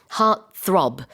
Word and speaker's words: heartthrob: heartthrob은 한 단어예요. 스펠링은요. H-E-A-R-T 그 다음에 T가 한 번 더 나오는데 이때는 이제 T-H-R-O-B 원래 두 단어가 합쳐진 거거든요. heartthrob 이렇게 표현을 합니다.